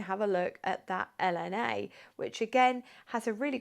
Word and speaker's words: LNA: this is it's an LNA or Elena as some French or French speaking people would pronounce it and if you want